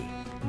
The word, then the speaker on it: qvevri: and add the use of qvevri (kvevri) (pronounced “kway-vree”) These are large, egg-shaped